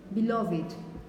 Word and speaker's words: beloved: beloved in this case because it's the adjective you would have to say beloved for example did you